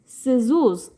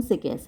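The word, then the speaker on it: Cixous: तो ये मेडुसा से आप परिचित हैं, और मेडुसा की हंसी यानी लाफ ऑफ मेडुसा हेलन सिकेस इसका नाम है, जो सही प्रोनाउंसिएशन सिकेस है।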